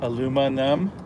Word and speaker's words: aluminum: I've always aluminum. No, aluminum. I can't say it then. Aluminum. Aluminum. Okay. And numb. You know, it's like aluma and you're numb. Aluma numb?